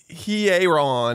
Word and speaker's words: Hearon: Caleb Hearon. Everyone's saying it wrong. They are It's saying he. it wrong. You start with your pronouns. He. And then Aaron.